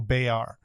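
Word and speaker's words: Béart: It's Emmanuel Bayard. Oh, yes. Wow. Yeah. The T is not pronounced.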